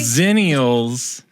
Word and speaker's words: Xennials: Zennials.